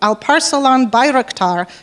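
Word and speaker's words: Alparslan Bayraktar: one of the few people who can probably pronounce his name right al parcel on birektar which means flag bearer in turkish and he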